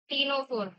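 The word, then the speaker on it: Ctenophora: टीनोफोरा टीनोफोरा में सी silent हो अभी आपको यह बहुत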